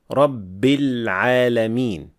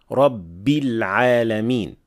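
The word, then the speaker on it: رب العالمين: Saying Rabb with sukoon, Rabbil Alameen, while it should have a clear kasra, Rabbil Alameen. So not Rabbil Alameen.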